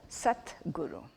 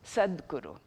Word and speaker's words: Sadguru: Um a true or a genuine guru is called a Satguru. Sadguru. And when you pronounce certain Sanskrit due to sandhi rules, it becomes Sadguru.